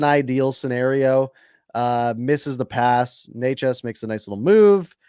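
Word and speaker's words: Nečas: Natchez makes a nice little move.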